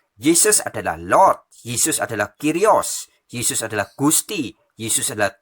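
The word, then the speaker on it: κύριος: Jadi bahasa aslinya yaitu bahasa Greka atau bahasa Yunani, tertulisnya Kyrios, bacanya Kyrios ya.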